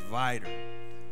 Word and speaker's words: Vidor: It's Vidor.